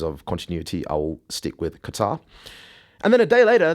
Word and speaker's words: Qatar: I do believe, I'm not Arab, but I believe that the correct pronunciation, the Arabic pronunciation is Qatar.